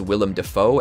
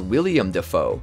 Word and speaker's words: Willem Dafoe: In episode 3, Boys and Squirrels, Joe mispronounces Willem Dafoe as William Dafoe.